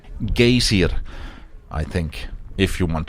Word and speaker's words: Geysir: Just don't pronounce geyser with an American accent when you're here. It's pronounced Geysir, I think, if you want to impress the locals.